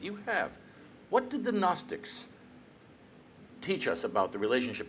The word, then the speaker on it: Gnostics: wonderful new awareness of the gnostics with a silent g at the beginning these astonishing thinkers who